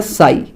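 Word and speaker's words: psi: इसको हम बोलते हैं साईं इसको हम बोलते हैं साईं इसमें साइलेंट होता है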